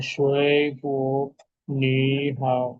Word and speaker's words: 水果: Entonces este se vuelve segundo en pronunciación. 水果，口语，永远，你好，法语，了解。Cuidado acá, ¿no? No me digan 水果，你好, no.